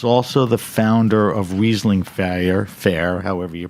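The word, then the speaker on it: Riesling Feier: How do you pronounce it? Fair? Yeah, fire. Fire. So Fire.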